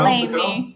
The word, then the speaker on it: Lamy: This is in Laney. I believe that's how you pronounce it. Lamy, New Mexico. Lamy.